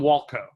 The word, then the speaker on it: Walkow: I'm Walkow.